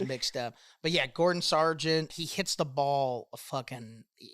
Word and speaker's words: Gordon Sargent: It's Gordon Sargent. Gordo Sargent. There you go. See, I would listen. Close. Almost got it. Close. Almost just got the first name wrong.